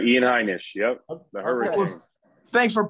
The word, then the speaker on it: Heinisch: okay I just want to make sure I'm pronouncing it right too is that correct Ian that is correct Ian heinish yep the hurricane thanks for pointing out our